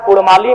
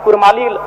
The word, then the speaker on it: कुड़माली: ठीक उसी प्रकार कुड़माली में अभी कुरमाली र उच्चारण होता है बर्तनी में, जबकि वह मूल रूप से परंपराओं की मान्यताओं की बात करें तो अड़ होना चाहिए।